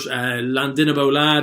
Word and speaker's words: Llandinabo Lad: Again, the favourite, Llandinabo Lad, or Clandinabo Lad, I believe is how you pronounce it, has got an awful lot going for him.